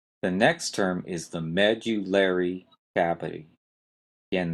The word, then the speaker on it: medullary: next term is the medullary cavity again that is a hard one to say med you larry cavity you've got a strong stress on the first syllable med and